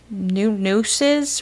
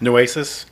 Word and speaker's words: Nueces: And the body was actually found in Nueces River. I don't really know how to say it. Nueces? Thank you. Nueces.